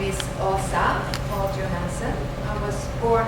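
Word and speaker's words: Åsa: rid of it my name is so difficult to pronounce it's a with a circle over like inv in my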